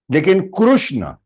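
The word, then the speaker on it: कृष्ण: not Krishna K Krishna krushna is the right pronunciation in Sams krushna it is not wrong because it is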